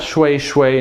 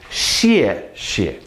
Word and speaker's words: 谢谢: So again, that's 谢. 谢. This one is fourth tone. This one is neutral. So thank you. 谢谢. Not shui shui, not shi shi, not shu shu. 谢谢.